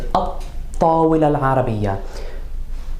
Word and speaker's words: الطّاولة العربية: So if we were going to talk about the Arabic table, even though we have alif lam, the definite Arabic table, we're going to pronounce it at-tawil al-arabiyya.